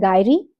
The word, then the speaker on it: gyri: जब corpus callosum की elevation होती है, एलिवेशन की प्रोसेस को हम बोलते हैं गायरी, GYRI, और डिप्रेशन की प्रोसेस को, डिप्रेशन, जब कॉर्पस कैलोसम में डिप्रेशन होता है उसको बोलते हैं हम सल्काई, SUCCI।